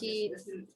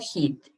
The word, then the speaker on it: eat: And here, guys, is eat. It's not heat.